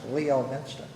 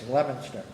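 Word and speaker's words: Leominster: that City lemona it's it's looks like it's pronounced Leo Minster okay it's lemonster okay it's not too far from Fort De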